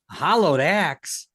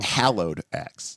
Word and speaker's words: Hallowed: Hollowed Axe. Oh, that sounds really sweet too. Hallowed axe.